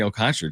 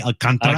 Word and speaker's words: Alcantara: If they acquire Sandy Alcantra, John Morosei is gonna I can't wait to hear him say his name. Mean Sandy Alcantara.